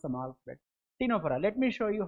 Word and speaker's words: Ctenophora: The phylum Ctenophora, c t e n o p h o r a. Ctenophora. What is this ctenophora? Ctenophora. See, c silent. You shouldn't pronounce the word c here.